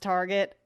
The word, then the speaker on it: Target: i'm just kidding y'all it's pronounced target i know we speak french around here but we ain't that french y'all so targets always got